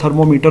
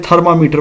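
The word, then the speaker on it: thermometer: और ये थर्मोमीटर का तो आपको वैसे भी पता है, जिसे अक्सर लोग गलत प्रोनाउंस करते हैं, थर्मामीटर पढ़ते हैं, ये एक्चुअली थर्मोमीटर होता है और इससे बुखार वगैरह चेक किया जाता है।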